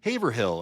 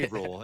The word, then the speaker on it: Haverhill: be pissed, but like people will come to our area and they're like Haverhill and everyone's like laughing at them. Yeah, It's right. Haverhill.